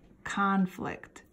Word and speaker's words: conflict: If it's a verb, it would be like two things that don't go together. And we would pronounce it conflict, okay? So as a verb, we pronounce conflict, and as a noun, we pronounce it conflict. It's a little bit different, okay?